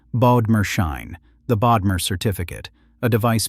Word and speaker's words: Bodmerschein: And in one of the strangest inventions in Swiss corporate history, Gasser created a financial instrument he named, mockingly, the Bodmerschein, pronounced Bodmerschein, the Bodmer certificate, a device built specifically to